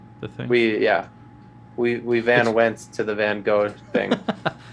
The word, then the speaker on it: Van Gogh: We went to the Van Gogh thing. It's pronounced Van Gogh.